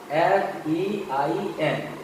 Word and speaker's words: fain: उसी तरह से आप देखिए FAIN, उच्चारण क्या होगा? FEIN, हिंदी में फैन, और फैन का मतलब होता है खुशी से।